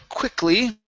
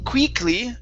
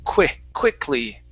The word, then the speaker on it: quickly: All right, let's go to the word quickly. So instead of saying quickly with a long E sound, let's use a short I. The word is quickly.